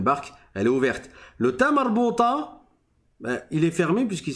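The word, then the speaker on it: تاء مربوطة: Et cette lettre, on appelle le ta marbouta. Le ta marbouta, c'est quoi? C'est un ta. Donc, ça se prononce habituellement comme le ta que vous avez appris dans le premier cours, qui est celui-là.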